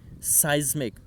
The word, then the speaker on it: seismic: And following local seismic, you will have to pronounce that word is seismic.